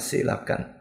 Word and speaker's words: coelacanth: sebuah artikel yang berjudul silakan nulisnya coelacanth Tapi bacanya silakan silakan ikan fosil yang